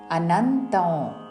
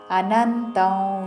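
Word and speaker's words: अनन्तम्: सर्वाश्चर्यमयं देवम् अनन्तं विश्वतोमुखम् अनन्तं अनुस्वारमु नासिक व उच्चारण अनन्तं विश्वतोमुखं वी मीदाघात विश्वतोमुख महाप्राणाक्षरमु ख चिवरिलो मा हलंतमु विश्वतोमुखं అనంతం విశ్వతోముఖం.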